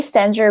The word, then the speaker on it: Stenger: at justinestenger.ca and i say stenger because it's like it's spelt that way so people will identify with it so it's j-u-s-t-i-n-e-s-t-e-n-g-e-r